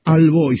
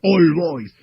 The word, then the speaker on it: All Boys: me retó, me dijo, "No se dice al voy, se escribe al boy, pero se pronuncia All Boys."